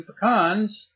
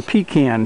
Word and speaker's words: pecan: we'll have a few pecans off our own trees right here in Upstate New York well today we're going to plant some pean trees or pecan trees if you prefer that pronunciation I have taken these